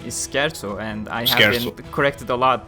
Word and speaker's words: Scherzo: far as i remember like 120 ish while shersel is well basically twice as long if not